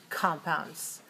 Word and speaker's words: compound: intonation patterns of noun compounds so we have the sound compound with a sound on the distress on the first syllable compound that's a noun if we say this